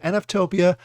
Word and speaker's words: NFTOPIA: yes I think I finally said it right NF Topia it is a free weekend virtual event that